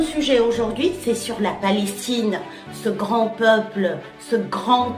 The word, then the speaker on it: Palestine: la fin du mot Pr première règle en prononce jamais de E à la fin du mot jamais Palestine le E ça sert pour faire ressortir le